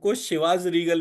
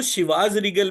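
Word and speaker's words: Chivas Regal: तो चिवस रीगल में वर्तनी C-H-I थी, न कि S-H-I। हम्म। इसलिए मैंने तुरंत इसे आपस में जोड़ दिया क्योंकि एक आंतरिक संवाद हमेशा चलता रहता है। मैंने कहा, "ओह, मैंने वहाँ जो 'ची' पढ़ा था, वह 'ची' नहीं, 'शी' था।"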